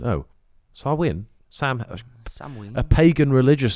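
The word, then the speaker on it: Samhain: its roots in the ancient Celtic Festival of Sam hay a galic word pronounced sawin oh sawin Sam Sam a pagan religious celebration to welcome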